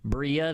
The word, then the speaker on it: Brilla: our very first team bria that's the way uh it's pronounced and that was also the reason why we came up with that name was to have the a spanish word so it's the spanish word for shine and we came up